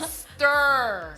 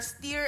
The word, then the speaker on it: stir: Kasi ang IR ' ba girl and birds. So pag pinalitan natin yan, hindi niyo pwedeng gawing ear na steer at saka firm. That's still stir, firm and confirm.